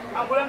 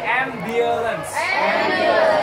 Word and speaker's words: ambulance: Ambulan tuh bacanya gini, ambulan. Ambulance. Gak ada U-nya, ambulance.